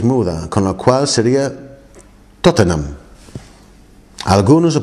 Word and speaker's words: Tottenham: lo llamo pero realmente en inglés no pronunciamos cada sílaba o cada cada letra digamos entonces está escrito como tottenham no ham tottenham pero no hicimos eso tampoco